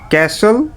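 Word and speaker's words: castle: Silent T, listen, ক্যাসল, fashion.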